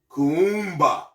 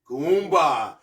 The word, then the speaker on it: Kuumba: purpose ni Nia and again today's principle is Kumba Kumba is K a u u m ba a Kumba which means creativity and it's talking about all